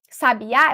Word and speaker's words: sabiá: chamar a palavra Sabi eu tô dando a tônica na última sílaba no último pedacinho eu tenho aqui Sabiá Eu tenho um pássaro